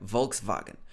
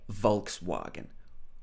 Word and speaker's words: Volkswagen: a british accent ford volkswagen of course this w in german would be more like a v it would be something like volkswagen but in the uk we would probably say volkswagen volkswagen next is mercedes-benz